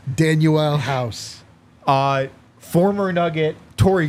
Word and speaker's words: Danuel: away on Philly's bench danuel yeah I think that's actually how it is pronounced danuel house uh former nugget